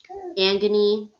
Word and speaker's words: Angenie: have to be like it's Angenie, like kind of like I'm just a knee, like it's like Angenie or Angenie because the way it's spelled, it looks it's Angenie. So if you separate it, it looks like Angenie, like a genie, So I have gone